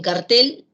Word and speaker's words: cartel: En cartel, el acento o fuerza de voz o intensidad recae en la última sílaba, y ahí está escrita de color rojo.